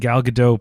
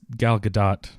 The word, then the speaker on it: Gal Gadot: the character and and gal gadot plays it so perfectly I guess it's gal gadot I've always got it right the first no I've always heard you pronounce the T oh you do yes